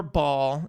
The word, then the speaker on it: Baal: Yeah, in the Bible, there's a god named Baal, or Baal is how like a lot of scholars pronounce it, but the witnesses say Baal.